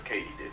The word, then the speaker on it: katydid: Turns out it's katydid, as in did Katie do it? Yes, Katie did.